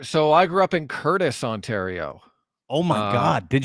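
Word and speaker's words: Courtice: but then it goes like Pickering Ajax ashaa Curtis if you will that's right and Curtis isn't spelled like Curtis's name it's like CTI it's most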